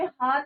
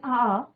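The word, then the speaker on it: hour: बच्चों, about an आवर, यहाँ पे हार नहीं पढ़ना आपको, इसको एच इज साइलेंट, तो यहाँ पे क्या पढ़ना है बच्चों, एन आवर before the tsunami hit, 1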